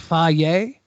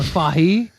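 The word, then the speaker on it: Fage: first time I guess it's apparently pronounced Faye or fahi see we're getting multiple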